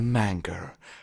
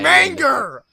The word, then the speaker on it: manga: i've heard the pokemon manga is more dusty stop saying manger it's my britishness it's not how you say it manga better better all right manga that's gonna